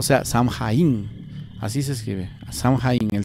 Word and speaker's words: Samhain: O sea, Samhain. Así se escribe, Samhain.